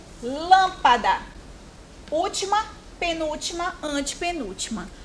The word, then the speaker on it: lâmpada: Lâmpada. Lâmpada. Olha como o lã é falado com mais força. Lâmpada.